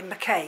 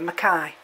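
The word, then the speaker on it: mackayi: is zygo petalum makai a lot of people say mckay because it's m c k a y but i think we pronounce it here makai i've just got that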